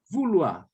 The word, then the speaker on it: vouloir: A grafia estará dessa forma, mas olha só como é que vai ser a pronúncia. Por quê? Porque o fonema OI sempre som de U. Fonema OI sempre som de UA.